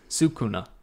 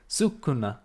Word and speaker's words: Sukuna: Sukuna. Sukuna.